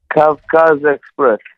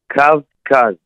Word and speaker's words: Kavkaz Express: First off, man, how do you pronounce the company's name? Kavkaz Express. Hold on. Slow it down for me. Kavkaz.